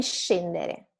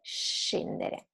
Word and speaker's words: scendere: have in English, is the sound of the SC combined with the vowel I or E. So it's she or she. It's not sk or sch, but sh. Like sciare, ski, and scendere, to go down, to get down, go downstairs.